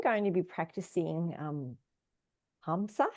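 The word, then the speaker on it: ahimsa: Um, I'm going to be practicing um Hamsa. How do you how do you pronounce it? Aimsa. Aimsa.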